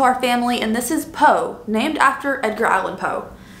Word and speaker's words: Poe: family and this is poe named after edgar allan poe but someone said poo like a teletubbie and i can't unhear that situation but his name is poe i was confused about